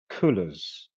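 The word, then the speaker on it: Cullors: got the perfect name Patricia kolers or if it's might be pronounced colors it's like c u l l o r s quite near to Colors right so anyway she's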